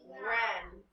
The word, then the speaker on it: wren: We have wrist, wrap, and wren. What is making the sound? W-R. W-R. Very good. W and R.